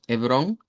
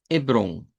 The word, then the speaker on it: Hebrón: Pero la pronunciación nosotros decimos Hebrón, en portugués vamos a decir Hebron. Hebrón.